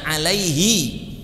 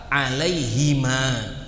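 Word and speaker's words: عليهما: seharusnya dia tidak membacanya alaihi, tapi seharusnya bacanya kalau sesuai dengan kaidah bahasa Arab alaihima. Ya, karena hi itu kata ganti atau damir dalam bahasa Arab untuk satu orang. Kalau untuk dua orang seharusnya dia bacanya hima atau huma.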